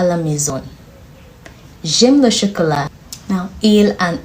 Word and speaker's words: j'aime: Okay, you pronounce it together because there's an apostrophe between the J and the A now.